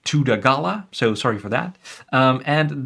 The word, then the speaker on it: Thudagala: I see it's now pronounced Tudagala, so sorry for that.